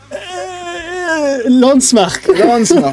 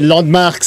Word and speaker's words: LANDMVRKS: Landmark. Mais non, c'est Landmarks.